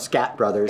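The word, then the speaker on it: Skatt Brothers: Now, before anybody assumes that I know, Scat Brothers. It's spelled S-K-A-T-T. It's Scat Brothers.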